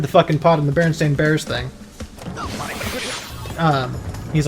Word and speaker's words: Berenstain: with common spellings yeah so you hear the name and you think e because most people pronounce it that way and you don't really look too hard at the name yeah I think it's supposed to be pronounced Berenstain i yeah the fruit of